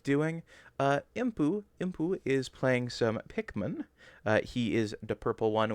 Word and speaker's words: Pikmin: No, I lost all my Pikmin. No, What is that's Pikman? not true. It's spelled pay.